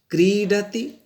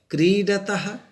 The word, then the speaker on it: क्रीडति: देखते हैं लट लकार में क्रीडति, क्रीडतः, क्रीडन्ते। बच्चे असावधानीवश क्र में ह्रस्वई की मात्रा लिख देते हैं, जो गलत है। हम लोग यहाँ उच्चारण भी क्रीडति करते हैं, न कि क्रीडते।